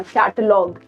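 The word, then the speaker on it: catalogue: अब अगर आप इसको देखें कैटलॉग अगेन ये कॉम्बिनेशन है जीओयूई का कॉम्बिनेशन है एंड यू को हम स्किप करेंगे कैटलॉग हमारा अगेन वर्ड यहीं पे खत्म हो गया प्रोनाउंस होना कैटलॉग what about this one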